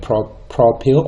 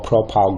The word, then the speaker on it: propyl: called three carbon atoms you'll call it pro pill or propyl group depending on how you want to pronounce that now I've got a